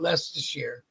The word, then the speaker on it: Leicestershire: All I know is that the name on the back of their jacket said Leicestershire, and it's spelt all fucked up, but you pronounce it Leicestershire.